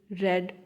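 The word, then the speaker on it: read: पढ़ना रीड, रेड, रेड। Spelling same, sound change. First form में रीड, second form में रेड, रेड।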